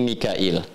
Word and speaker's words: Mikail: Mikal itu riwayat Hafiz dari Asim. Di riwayat Qalun, kemudian Warash dari Nafi' dibacanya Mikail. Ya, makanya kita bisa baca dengan Mikal ya atau Mikail.